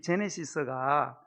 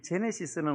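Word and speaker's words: Genesis: 이 제네시스가 이 히브리어 베레시트를 사실은 이렇게 한 단어거든요. 이 제네시스는 원래 헬라어, 신약 성경이 헬라어로 적혀 있거든요. 헬라어의 게네시스를 영어가 제네시스, G를 G로 발음해서 제네시스.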